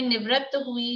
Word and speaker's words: निवृत्ति: निवृत्ति में तो तय पे जोर आ रहा है, डबल तय आ रहा है, और हाँ डबल तय वही आएगा।